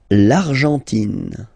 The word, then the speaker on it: Argentine: L'Argentine. Okay, so you've got this nasal here. En, l'argent, and then tin. Don't pronounce the final E. It just gives you the pronunciation of the N.